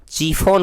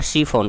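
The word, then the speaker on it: शिफॉन: तो इसे हम अगर चीफोन कहिएगा अगर आप, या कीफोन कहिएगा, क उच्चारण कीजिएगा तो कीफोन हो जाएगा, स उच्चारण कीजिएगा तो सीफोन हो जाएगा, और च से चीफोन हो जाएगा। तो देखिए तीनों उच्चारण कीजिएगा तो तीनों में सार्थक हो रहा है सीफोन, क्योंकि सीफोन एक शब्द है।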